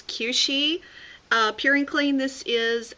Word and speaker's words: Kueshi: So this is, I guess, the proper way to pronounce it is Kueshi.